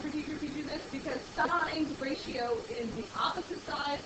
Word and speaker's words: sine: just to remind you this is not pronounced sin it's sign because it's clearly spelled s i n e but on your calculator